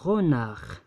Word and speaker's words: renard: un renard كنقراو هاد دي. هاد ار باردون. ار هادي اللي هنا. هادي ما تقراتش.